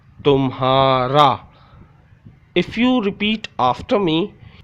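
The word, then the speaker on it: تمہارا: Te mean tum, te mean tum, he alif ha, tumha, re alif ra, tumhara.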